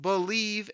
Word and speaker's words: Bleav: It's called Believe in Lions, and that's spelled BLEAV on the Believe Podcasting Network, with both myself and Lions legendary safety Benny Blades.